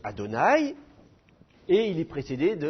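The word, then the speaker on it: אֲדֹנָי: Ensuite, vous reconnaissez le tétragramme, qu'on prononce Adonai, et il est précédé de la préposition lamed.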